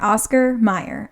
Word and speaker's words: Oscar Mayer: Oscar Meyer.